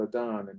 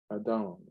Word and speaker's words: Adon: Some people will say Adoni right here, but right here it shows us the way to pronounce this is Adon, because they don't have an E at the end of the example of it.